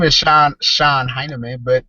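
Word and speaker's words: Shon Hynman: media um my name my name is Sean Sean heinerman but it's spelled h s h o n h y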